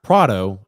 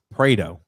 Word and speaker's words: Prato: says now i realize name is not prado it's prato yes i mispronounced his